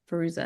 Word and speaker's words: Fairuza: Fairuza.